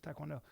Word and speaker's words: taekwondo: Well, it's pronounced taekwondo.